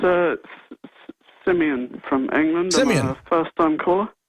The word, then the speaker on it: Simeon: another call right now Simeon in England or Simon sorry in England uh sorry I butchered your name there sir but you're on the air go ahead hi there it's uh Simeon from England first time caller great go ahead